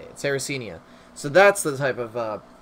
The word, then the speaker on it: Sarracenia: secare Karianna that it yeah Sarah oh no sarracenia that's how you say it sarracenia so that's the type of pitcher plant that